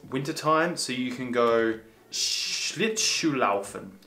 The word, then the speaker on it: Schlittschuhlaufen: with my S's, because in Germany, S's are pronounced a little differently when it comes to SCH. So this is wintertime, so you can go Schlittschuhlaufen. Schlittschuhlaufen.